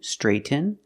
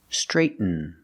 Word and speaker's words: straighten: You can say straighten with a real T, straighten, but it's more common to pronounce it like this, straighten, straighten. You make a stop T, that means you make the position of a T, but you don't release it.